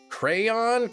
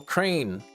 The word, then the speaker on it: crayon: Almost as if you're pronouncing it the way that it is spelled. Crane is how movie reviewer movie reviewer Cody Leech says crayon.